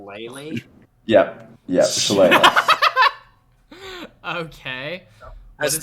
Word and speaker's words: Shillelagh: Shalala? Lele? Yep, Shillelagh. Okay. Has What 3 is- different pronunciations.